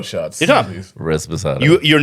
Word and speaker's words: Reposado: Res Posado shots. You're dumb. Reposado.